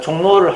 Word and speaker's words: 종로: 종로는 발음이 어떻게 되냐면 종로 이렇게 발음납니다. 그래서 종 쓰고 노 이렇게 써줘야 되는 거죠.